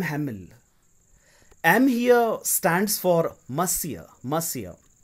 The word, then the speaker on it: Monsieur: Monsieur is prefixed so must see it is pronounced Monsieur am ons ie you are so Monsieur Hamel you don't really need to write mr.